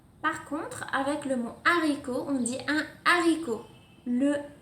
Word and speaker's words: haricot: il s'agit d'un âge aspirer le déterminant se prononce en tienne on dit le haricot exemple le hibou on dit pas un niveau